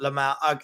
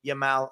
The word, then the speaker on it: Yamal: Shamal, not Lamal.